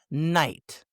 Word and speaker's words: knight: When the K comes before the letter N, the K is silent. Yeah, silent. It's night, not knight.